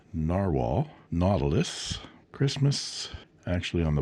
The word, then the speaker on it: Nahvalur: And this is the Narwhal, spelled just the way it sounds, Nahvalur, pronounced Narwhal, Nautilus, Christmas.